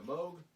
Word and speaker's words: Moog: The Moog used for this album, is there anybody still left who doesn't know that Moog rhymes with vogue? Vogue, or rogue, it says here.